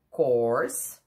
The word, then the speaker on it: course: Course. Círculo pequenininho na boca. Course.